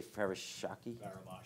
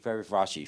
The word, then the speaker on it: Faravashi: How do you say Farashaki? Faravashi.